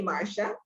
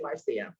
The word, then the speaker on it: Marcia: Most Americans say Marcia. Yeah. But I'm from the Caribbean and say Marcia.